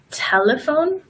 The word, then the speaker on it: telephone: But when we have the letter combination of PH together, that is going to make the same sound as F, like telephone and alphabet.